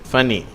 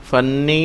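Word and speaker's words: funny: 489வது வார்த்தை ஃபனி. ஃபனி என்று சொன்னால் ரொம்ப தமாஷான என்று பொருள். இதை ஃபன்னி அப்படின்னு சொல்லக்கூடாது, அது ஒரு எண் போல தான் உச்சரிக்கிறது.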